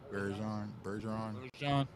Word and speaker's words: Bergeron: Bergeron.